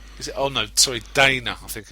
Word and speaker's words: Dana: but the main stars are Mike Meyers and Donna Carvey. Is it? Oh, no, sorry. Dana, I think it's pronounced Carvey.